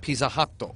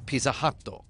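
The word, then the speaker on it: ピザハット: because why wouldn't you, it'd be pronounced exactly the same way as Pizza Hut. Pizza Hatto. Pizza Hatto. Because Japanese has exactly 5 vowels.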